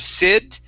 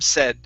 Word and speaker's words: said: is rob said okay instead of sid si se short e rob said rob said okay great